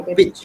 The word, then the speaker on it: pitch: peach or peit pitch it's a pitch ma'am it's h it's short right so short e sound not long e only beach has a long e sound in this